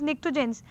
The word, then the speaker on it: pnictogens: In the spelling you have P is silent. P is there, which is like silent. So what you have is pnictogens.